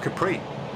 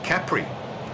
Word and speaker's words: Capri: there we've got the isle of capri or capri as the locals say correctly and what i'm about